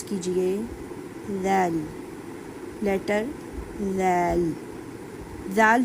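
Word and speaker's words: ذال: अपनी जुबान की नोक को फ्रंट के दांतों से लगाइए और फिर प्रोनाउंस कीजिए। ज़ल लेटर ज़ल। जाल जो है नरमी वाले हरूफों में आता है।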